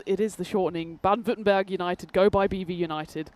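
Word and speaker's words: Württemberg: Ban Vittenberg United. Go by BV United. Yeah. And the the V is the W.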